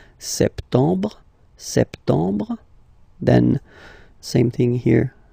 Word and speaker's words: septembre: So, septembre, septembre, septembre. Remember this E-M en septembre. Br, br. You don't insist on the final E. Septembre, septembre.